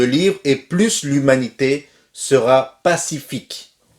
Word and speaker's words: pacifique: et plus l'humanité sera pacifique pacifique s'est pas pacifique et dans le final ne se prononcent pas pacifique ensuite on est